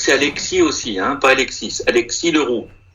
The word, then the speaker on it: Alexis: Attendez, alors on était à Félix, continue, c'est ça, Khaled, Doha, Alexis Leroux. Est-ce que c'est Alexis aussi, hein? Pas Alexis. Alexis Leroux. Ouais, au Québec général, on ne prononce pas de S.